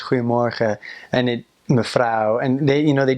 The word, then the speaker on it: Goedemorgen: So, he'll be like, "Goedemorgen, mevrouw. Mijn collega en ik," and it's just so hard and like, just like he's just rocks falling out of his mouth. Whereas when a Dutch person says it rounds it off.